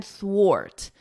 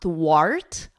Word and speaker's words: thwart: So here, this is not an R sound. It's not thwart, art, like the R in cart. It's a or, thwart, ort, thwart. So you could think of it like or, and then just add a T, and then wart, thwart.